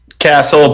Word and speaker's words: Cassell: So, are you say that Cassell or Castle or how do you say that? Castle, but it's fine the way you've been saying.